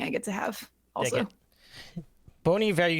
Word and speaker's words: Bon Iver: get to have also bony value if you pronounced it correctly I used to pronounce it Bon Iver didn't we all oh